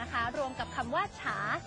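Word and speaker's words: 茶: ว่า ชา นะ คะ ภาษา จีน เรา จะ เรียก ว่า ฉา ฉา ออก เสียง คล้าย กับ คำ ว่า ชา ใน ภาษา ไทย เลย นะ คะ ชา ชา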